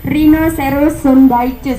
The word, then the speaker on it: Rhinoceros sundaicus: Oke, dibacanya Rhinoceros sundaicus. Apa? Rhinoceros sundaicus.